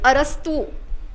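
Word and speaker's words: أرسطو: went to Arab Arabs they can't say p so they they pronounce p as for and they have a habit of attaching o before so they started calling Plato of lato and they started calling Aristotle arastu okay and from because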